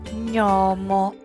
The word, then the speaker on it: gnomo: La ġ con la ñ si pronuncia ñ. Ñ di gnomo.